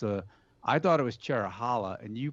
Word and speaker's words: Cherohala: I I always thought it was Cherrow for Cherokee, which is the one forest it comes from, and Hala to go with the Nanta Hala forest, which